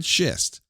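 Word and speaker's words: Schist: Fred Shist rhymes with fascist.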